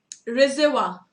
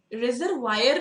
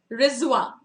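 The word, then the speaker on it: reservoir: हुआ था, ठीक है, इसे क्या प्रोनाउंस करते हैं, रिजर्वा, रिजर्वायर नहीं, इसे वायर नहीं बोलते, कुछ लोग इसको वायर बोलते हैं, नहीं, ठीक है, रिजवा, रिजवा, ये इसका प्रोनाउंसिएशन है, ठीक है, जिसका मतलब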